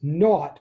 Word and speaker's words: naught: know this um i'm going to read it out loud as x naught and a u g ht that's like the british word uh that means nothing so x sub 0